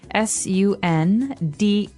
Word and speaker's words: sundae: So, as you can see, the word is pronounced exactly like the day Sunday, but it has a different spelling in the end. Sundae, sundae.